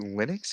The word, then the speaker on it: Linux: Okay, so is it Linux? It's Linux, right? Is that how you pronounce it?